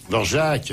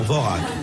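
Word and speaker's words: Dvořák: Dvorak. Ah, non, Dvorak. Bon, enfin, prononcez-le comme vous voulez.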